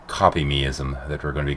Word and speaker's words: Kopimism: It's pronounced Kopimism, and I couldn't do a full hour worth of research on this one if I tried, never mind 2 hours.